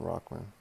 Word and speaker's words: Rahman: we don't call him Rockman it's r a h m a an it's pronounced Rockman but we call him Rock